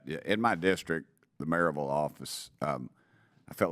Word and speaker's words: Maryville: Maryville. It's pronounced Maryville if you're from there, but you would pronounce it Maryville, Maryville.